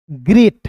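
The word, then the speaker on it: great: इ ए जब भी दिखेगा तो उसका उच्चारण ए के रूप में करोगे। टी का होता है दोस्तों ट। ग्रेट। क्या हो जाएगा? ग्रेट हो जाएगा।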